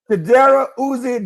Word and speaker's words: Chidobe Awuzie: Chidobe Chidobe Awuzie Digba. What are you doing? Get your hand off this And then I had to go find my thing. Chidobe Awuzie Digba.